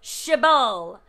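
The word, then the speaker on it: shibboleth: this in your kitchen a shibbole but it has two bees so it's chabal it is that double b pronunciation and it means a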